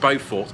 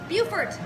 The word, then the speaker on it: Beaufort: The place we're staying is not pronounced Beaufort, it's pronounced Beaufort.